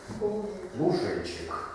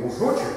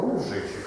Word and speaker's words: лужечек: И там некое странное произношение в третьей строчке. Это не опечатка, да? Но цветочный сев лужечек. Да, чтобы не лужочек, да, был, а лужечек, чтобы рифмовалось с кузнечиком.